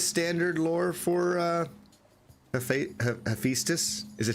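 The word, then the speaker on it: Hephaestus: lore for uh he hephestus is it hephestus hephestus hephestus hephestus I'm I'm okay with that I just thought the AE was e you know cuz like Eis isn't Eis spelled a e or am I wrong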